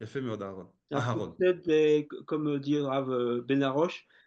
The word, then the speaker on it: Aharon: Donc, d'ailleurs, attention, ne vous faites pas appeler Aaron. D'accord? C'est Aharon. N'oubliez pas le He. C'est-à-dire, je sais que les lettres sont mal prononcées, donc c'est pas Aaron, c'est Aharon. D'accord? Il faut prononcer le He.